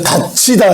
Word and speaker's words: 닫히다: 그래서 여러분이 요걸 보고 히읗을 보고 가치다 이렇게 발음을 해야 됩니다. 하나 더 해볼까요? 이렇게. 자, 갇혔어. 어디에 갇혔어요? 닫히다 해볼까요?